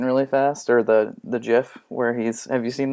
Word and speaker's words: GIF: fast or the the jiff where he's have you seen that one yeah I think you mean gif I say Jeff yeah okay hey that's how the Creator says instead of dwelling on